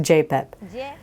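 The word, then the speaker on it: YPP: they later called the HM y p p pronounced J pep J is y but in Ecuador they say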